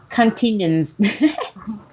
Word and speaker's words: continents: Continents, It's continents. continents, continents, Yes, continents. So continents, racing tone is at the first syllable.